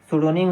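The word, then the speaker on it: pseudonym: सोनिम क्या होता है सोनिम है ये लिखा हुआ है स्पेलिंग ध्यान दीजिएगा बहुत इंपोर्टेंट स्पेलिंग है पी एस ई इसमें पी क्या है साइलेंट है सोनिम में ठीक है तो स्पेलिंग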